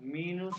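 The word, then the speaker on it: minus: उसके बाद माइनस को जो स्पेलिंग वही है, माइनस वाले इंग्लिश वाले, लेकिन जर्मन के हिसाब से इसको मीनूस कहेंगे, मीनूस, ठीक है, क्योंकि आई को ई कहते हैं मीनूस।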